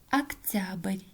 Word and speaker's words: октябрь: поэтому произносим как а октябрь тоже безударная гласная о произносим как а октябрьский тоже безударная гласная